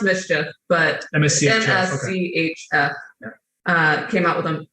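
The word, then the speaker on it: MSCHF: it's a company called ms cheat yeah it's pronounced mischief but msu uh came out with them which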